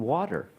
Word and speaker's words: water: You may be wondering why water is pronounced with a soft D. The guideline is that a T between vowel sounds wa and then vowel sounds, the T becomes the flap T, which is that soft D, water.